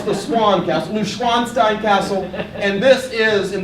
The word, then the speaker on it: Neuschwanstein: Right, I first pronounced it Neuschwanstein, which means pig castle, but no, it's the Swan Castle, Neuschwanstein Castle, and this is, in the dead of winter, a phenomenal place to visit.